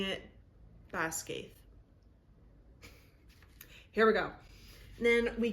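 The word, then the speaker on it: Basgiath: the p on the screen here I was pronouncing it Bas and there's actually a lot of Gaelic terms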